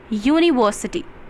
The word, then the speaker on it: university: In Hindi we can say when we pronounced it university, so here U is not a vowel. Here U is a consonant sound.